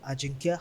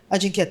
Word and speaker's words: Ajinkya: I thought like the J was like silent. So No. Yeah, some people say it like that, but no, it's Ajinkya. Ajinkya, tell us a little bit about yourself.